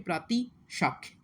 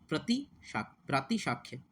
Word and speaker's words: प्रातिशाख्य: ठीक है, तो उच्चारण को महत्व दिया जाता है शिक्षा में। और इसी में एक चीज़ होती है प्रातिशाख्य।